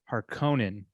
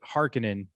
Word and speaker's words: Harkonnen: name in the movie i've always known it as the house harkonnen and they pronounced it hearkenin in this one that is the you